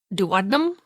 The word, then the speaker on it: duodenum: And we brought up duodenum.